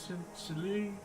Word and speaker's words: Chili: Is it Chile or Silly? Am I pronouncing it right? I might be not pronouncing it right. I about to send more pictures. before turn. Oh, Meu is being meu. No. Oh, no. No, you didn't. Like silly. Okay. Like it's pronounced like silly.